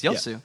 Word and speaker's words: Yasuo: Yu there we go you're pronouncing wrong it's yosu all right guys thank